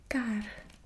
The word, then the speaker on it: kar: We have kar, and that is car, so the roll of the R.